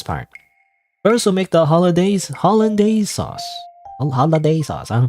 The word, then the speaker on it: hollandaise: First, we'll make the hollandaise sauce. Holiday sauce. I don't pronounce it. Holiday sauce. No, Paddy. Holiday sauce. That's not holiday sauce.